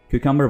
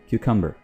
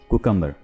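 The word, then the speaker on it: cucumber: खीरे की इंग्लिश में क्यूकम्बर बोलते हैं। क्या बोलते हैं? क्यूकम्बर, ना कि कुकम्बर।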